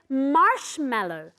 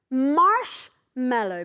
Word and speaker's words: marshmallow: in English we say marshmallow marshmallow be careful with the pronunciation okay marshmallow and the accent goes at the beginning now you can have